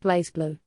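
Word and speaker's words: BlazBlue: Under baby under baby it's pronounced blaze blue the voice in New Zealand it's blaze blue.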